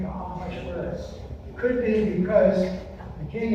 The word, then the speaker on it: Ahasuerus: The pronunciation of the king in this story is Ahasuerus.